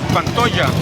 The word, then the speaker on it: Pantoja: How do I spell that? Pantoja.